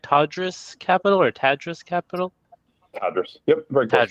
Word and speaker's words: Tadrus: how did you end up creating, am I pronouncing it right, TADRUS Capital or TADRUS Capital? TADRUS. Yep, very close. TADRUS, okay.